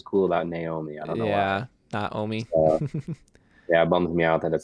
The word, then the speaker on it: Naomi: Okay, so I like the name Naomi, but that's actually not how it's pronounced Oh, at all. okay. Isn't Yeah, it's it supposed to be Naomi? Naomi.